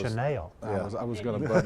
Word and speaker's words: Chanel: And it's actually pronounced Chanel. Chanel. I mean, I know Elizabeth's trying to help you, but let's get it right, Ben. Chanel. Chanel. It's sort of like Jaguar.